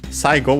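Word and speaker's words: 最後: First we have saigo. Sai is can be found in other words. It means most. Extreme. Go is it's a Chinese compound. Saigo, accented on the sa, by the way, the first syllable.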